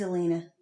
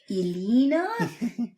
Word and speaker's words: Elena: And she's named Alana, but clean Queen Mave like everybody else pronounces it Elena. It is Elena.